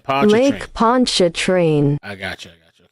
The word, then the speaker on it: Pontchartrain: Pon a train okay L Pon train Lake Ponch a train I got you I got you okay so